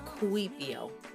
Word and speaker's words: Kuipiio: This is my first album, and it's entitled Kuipiio, pronounced Kuipiio.